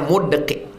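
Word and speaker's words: مُدْقِع: Wa qauluhu mudqi, tadi ada disebut dalam hadis itu mudqi bi dhammi awalihi mu, sukun dal, mud, kasril qab qi, mudqi. Cara membacanya mudqi.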